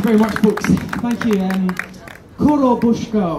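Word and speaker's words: Korobeiniki: Korobushka, or maybe Korobeniki, we've been told slightly different pronunciations by different Russian speakers.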